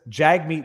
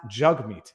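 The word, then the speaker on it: Jagmeet: Gade in Rumble says Jag meat not jug meat no his name his name is pronounced jug meat he's he he specified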